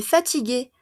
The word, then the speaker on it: fatiguée: Elle est fatiguée. Lo mismo. ¿No? Ella está cansada, femenino. Lo mismo doble E porque es femenino. Fatigué, fatigué, fatigué, fatigué. Misma prononciation.